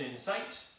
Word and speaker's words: incite: and insight in sight the first one is usually said like this in sight with the accent on the second syllable and the other one is an insight with the accent on the first syllable so in sight means